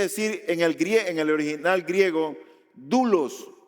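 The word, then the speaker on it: δοῦλος: Esa palabra siervo quiere decir en el original griego, doulos o doulos se escribe.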